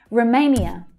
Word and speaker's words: Romania: Now the main stress is on the second syllable. So it's A as in day. Romania. And the first syllable is unstressed, so it reduces right down. Sometimes to the schwa, sometimes you'll hear Romania, but usually the schwa.